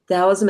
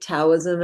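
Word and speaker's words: Taoism: Dowism and Dowist concepts could also be spelled with a T. Towism.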